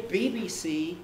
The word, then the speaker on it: BBC: bbc pronunciation unit now how do we say bbc bbc we say bbc in exactly the same way as we say ucl it has two stresses and it's the last one bbc which is strong the